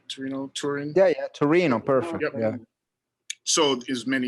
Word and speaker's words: Torino: beautiful i was in torino and am i pronouncing it right torino turin yeah yeah torino perfect yeah so is many years ago um